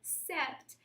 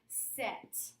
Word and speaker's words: sept: The P is silent. We do not pronounce that P. So it is not sept, it's rather set.